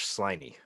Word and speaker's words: Sliney: the Indian Wars tiny now how how do you spell that s-l-i-n-e-y just like it sounds okay because it's if you're not listening carefully it sounds like slimy and I'm thinking George